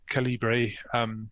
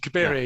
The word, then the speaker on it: Cabiria: Victorian era novels that had been adapted, and Calibri. I always get the pronunciation of that one wrong because Cabiria.